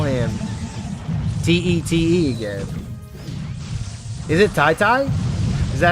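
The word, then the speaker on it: Tete: So he said to me on Twitter, he said you have to pronounce it like T-I-T-I. Tai-Tai? Oh, is it Tai-Tai? T-I is Thai, so it's Tai-Tai.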